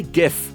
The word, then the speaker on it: GIF: The GIF pronunciation debate. Yes, I say it like that, like the peanut butter, the soft G that makes people irrationally upset.